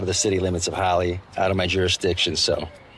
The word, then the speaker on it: Holly: And I see that your name is Holly. Indeed. Just like the name of this town. So I've heard. You're going to love it here. Rhymes with jolly and golly.